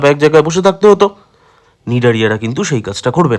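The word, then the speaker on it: Cnidaria: পরের পর্বের নাম হচ্ছে নিডারিয়া। নিডারিয়ার সিটা সাইলেন্ট থাকে।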